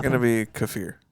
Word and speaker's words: kefir: Kiefer you know what everyone pronounces as Kiefer is actually kefir and there was a